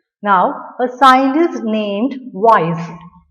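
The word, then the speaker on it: Weiss: are ferromagnetic materials now a sign is named wise spelling is w-e-i-s-s what is pronounced as wise it's a german german scientist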